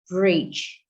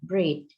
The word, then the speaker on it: bridge: There is a word which was pronounced differently by Indonesian, that is bridge. Indonesian pronounce it breed. It apparently happened because the word has final letter DGE, which it is difficult to create sound g after d.